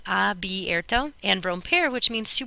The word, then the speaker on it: abierto: means to open, is abierto. Please make sure you spell that correctly. If people sort of have a dyslexic moment and switch these around and also mispronounce it that way, so abierto.